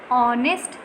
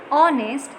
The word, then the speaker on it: honest: An honest man. Similarly, in this word, honest, H is silent and the sound of vowel word is coming.